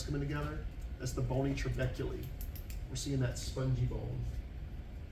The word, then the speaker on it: trabeculae: speculated network of trabeculae it's pronounced trabeculae when you look at